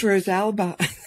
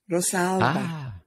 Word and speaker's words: Rosalba: Dr Rosalba Courtney, how are you doing today? Hi there, Anthony. It's Rosalba. It's a hard one. Yes. It's tricky. Yeah, it's an Italian name, Rosalba.